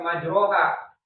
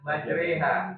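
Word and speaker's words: مجراها: Jadi bukan majroha tulisannya majroh ro tapi bacanya majreha.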